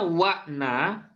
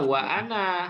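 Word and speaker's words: وَأَنَا: Bacanya wa'na atau wana atau wa'ana. Nah, wa'ana hamzahnya harus dibaca ya.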